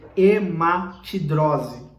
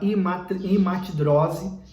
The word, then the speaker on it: hematidrose: Quero pronunciar correto essa palavra, hematidrose.